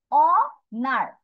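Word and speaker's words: honour: receive তারপর এইটা হবে অনার অনার এখানে কিন্তু এইচ এর উচ্চারণ হইবে অ থেকে শুরু হবে অনার অনার এইটা আবার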